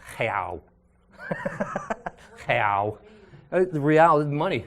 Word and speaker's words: real: We're going to call the money, it looks like real, but in Portuguese, in Brazilian Portuguese, it's pronounced real.